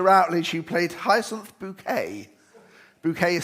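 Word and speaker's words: Bucket: Bouquet is spelt B-U-C-K-E-T.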